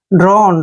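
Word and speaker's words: drone: न करते हैं और जब भी लास्ट में ई आता है तो वहां पर हम य का उच्चारण नहीं करते हैं य ध्यान रखने वाली बात है ड्रोन ड्रोन होता है शहद की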